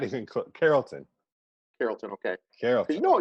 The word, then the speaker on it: Carrollton: pronounce they pronounce of Carlton like like the Carlton dance okay all right today's